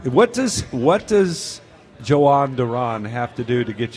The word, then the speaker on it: Duran: What does what does Joan Duran have to do to get you to say his name right? Durand Duran.